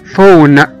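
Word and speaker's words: phone: ال P لما بتيجي مع ال H بنقول ف ف ف بتبقى نطقها قريب جدا من حرف ال F، وده بيكون واضح جدا في كلمة مثلا زي كلمة فون فون فون فون أو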